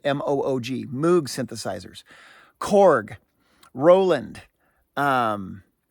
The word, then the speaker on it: Moog: So Moog, I think it's pronounced Moog, but M-O-O-G, Moog synthesizers.